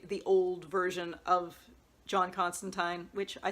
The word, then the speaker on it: Constantine: of my last videos I was giving up on pronouncing it that way because of the TV series they say it the other way but no in this one he actually says rhymes with fine at one point so there you go so maybe we should say the vertigo version is pronounced that way and the newer DC versions prints the TV way I don't know in